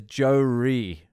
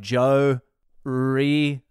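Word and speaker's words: Joeri: It says Joe-ry. He's from fucking the Netherlands. So I don't know if that's like Joe-ry. It's spelled J-O-E-R-I. It's the Netherlands version of fucking Joe.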